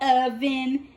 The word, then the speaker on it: Ovente: Sound it out, Ovente.